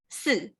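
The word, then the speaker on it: 四: it pronounced it as su and it sounds similar to death which is so we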